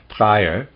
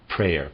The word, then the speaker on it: Preyer: I think his name is probably pronounced Preyer, P-R-E-Y-E-R. I'm going to say Preyer.